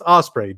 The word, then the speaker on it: Ospreay: Will Ospreay, and which I was like, it's Ospreay, dude. Yeah. Not I thought he said the name wrong too.